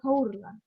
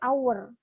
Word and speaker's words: hour: bener tapi kan dia bacanya bukan hour tapi our bunyinya itu kayak vokal maka dia harus jadi